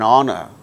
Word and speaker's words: honor: For instance words beginning with a silent H in the words hour, an honor, an honest man, an heir, an honorable man. In all these cases, these words begin with H, which is a consonant letter, but H becomes silent and these words produce initially vowel sound.